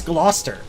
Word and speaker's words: Gloucester: Same as Gloucester, actually. I mean, it's basically the same suffix pronounced the same way.